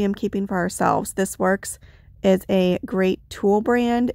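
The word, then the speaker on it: Worx: keeping for ourselves this works is a great tool brand if you know it works it's spelled w-o-r-x this was their line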